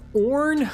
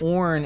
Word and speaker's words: Orn: Next up, we have Orn, I think is how you say his name, O-R-N.